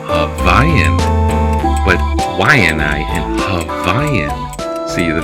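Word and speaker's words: Waiʻanae: The W in the front of a word is wa, like Waianai, Waialai, wa.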